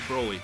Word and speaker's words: Broly: Broly.